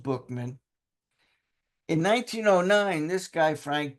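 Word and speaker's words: Buchman: BMAN, I know it looks like Buckman, but it's pronounced Bookman.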